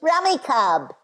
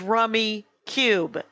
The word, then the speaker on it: Rummikub: when it wins goes remy cub everyone knows that it is rummy cube yes go to the rummy cube website it'll say pronounced rummy cube um and yeah yeah